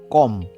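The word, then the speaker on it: comb: next word কি আছে কম সি ও এম বি যার অর্থ হচ্ছে চিরুনি তাহলে এখানে আমাদের কি উচ্চারণ হবে কম সি ও এম লাস্টের বি টাও এখানে সাইলেন্ট ওকে তাহলে এটার উচ্চারণ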